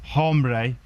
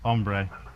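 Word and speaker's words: hombre: we've also learned that H is is silent in uh Spanish so it's not hbre it's ombre so that's something else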